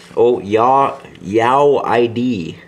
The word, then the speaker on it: Yawyd: Okay, dear Rick and Brandon, my YouTube name is Yawyd. Pronounced, Yawyd.